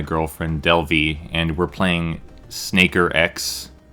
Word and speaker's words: SNKRX: delvie and we're playing snaker x it's uh spelled snk rx i got the pronunciation from the developer and uh this this